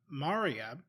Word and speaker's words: Maria: So Maria, pronounced like Aria.